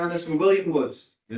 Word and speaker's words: Woods: William Woods. Did not mispronounce this one. It's not Woodus. Tell him it's Woodus.